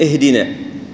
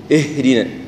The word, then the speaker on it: اهدنا: اهدنا اهدنا اهدنا، يعني بعض الاشخاص يقول الالف ضعيفه والهاء ضعيفه فيدمجهم مع بعض، اهدنا اهدنا، لا هي اهدنا، يعني تحس كان في ايش الهاء عليها يعني شويه بعض النطق تظهرها شويه.